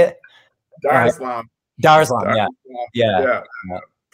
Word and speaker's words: Dar es Salaam: Dar es Salaam.